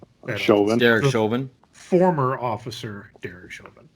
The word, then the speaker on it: Chauvin: forgot it happens by the way it's Derek Chauvin it's always say his name : Derek Chauvin former officer Darren right well so and then